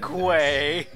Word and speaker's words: segue: Segway. Segway? Why don't they spell it like Segway?